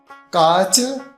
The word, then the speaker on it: काच: नैवम तो कांच नहीं, काच। ऊपर चंद्रमा नहीं है, बिना चंद्रमा के है तो क्या बोलना, काच।